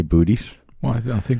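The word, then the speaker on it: Boötes: It's pronounced booties.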